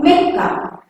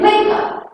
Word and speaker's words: Mecca: Next one more word, Mecca. See Mecca spelling? M-E-C-C-A. K pronunciation, but here we are not using K. C-C-A, Mecca.